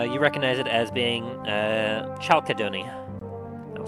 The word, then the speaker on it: chalcedony: You recognize it as being chalcedony. I'll spell that for you.